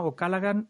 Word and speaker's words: O'Callaghan: Y luego tenemos a Cristina Ocalagan.